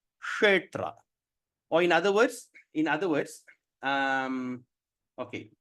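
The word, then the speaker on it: Kṣetra: So how are we going to pronounce Kshetra? Kshetra.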